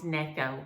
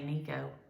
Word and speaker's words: Necco: was saying it wrong it's necco like your neck neck oh which makes sense phonetically any cco i don't know why i want to say nico but it's necco so but um sue loves